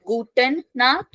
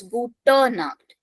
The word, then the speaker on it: Gute Nacht: It is not Guten Nacht. It is Gute Nacht.